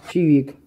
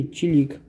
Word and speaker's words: чирик: Запомним, пишется «чирик», а произносится «чивик» или «чилик». Кто как привык.